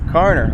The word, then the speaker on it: Carner: University and a right-hander, Carner. Did I say the right last name right there, Coach? It's the way it's spelled. Carner, okay.